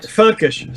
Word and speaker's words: völkisch: Völkisch. Looks like Meki's taken, he's muted himself. So the Völkisch movement. Sorry, Völkisch.